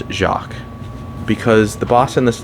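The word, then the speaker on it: Jacques: it's Jac it's pronounced jacqu because the boss in this level is a Jack In The Box and it is a pun on that this level is pretty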